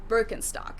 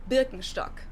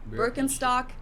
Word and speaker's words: Birkenstock: the world nowadays, and it's natural that people pronounce it with their native accent. So English speakers usually say Birkenstock. In German we say Birkenstock. Birkenstock, Birkenstock, which literally translates to birch stick.